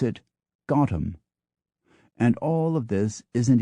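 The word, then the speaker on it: Gotham: New York City takes its nickname the locals pronounce it gotam and all of this isn't even to begin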